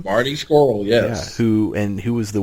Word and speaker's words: Marty Scurll: Is that how you pronounce that dude's name? Marty Scurll, yes.